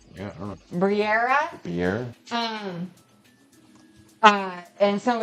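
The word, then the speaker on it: birria: The B I R R I A. Bria. Brier. Slower. B I R R I A. Spanish. Oh yeah. Briiera.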